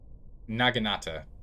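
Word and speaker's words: naginata: the Nagata the naginator naganata is probably how it's pronounced properly it's probably a naganata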